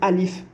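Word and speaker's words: ألف: Là, maintenant, vous avez vu Alif, vous savez que c'est Alif et vous savez qu'on la prononce Alif.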